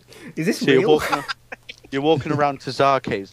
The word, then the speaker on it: TzHaar: guy who pronounces the TzHaar bit, he goes, TzHaar. Right, so Like, that's how he says it.